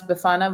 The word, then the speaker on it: Befana: I actually looked up how to pronounce Befana. We're saying it the same way that we would in Italy, so that's good.